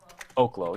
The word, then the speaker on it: Oklo: Um, that being said, I was hoping that Oaklo would turn into something. Oklo. I guess I say oklo, but I suppose it's olo. It's legally Oaklo. Yeah, Darren just corrected me. So Oaklo.